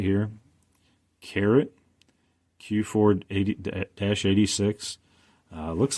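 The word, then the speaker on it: CARET: So what is Carrot? Well, it's spelled C-A-R-E-T, not C-A-R-R-O-T.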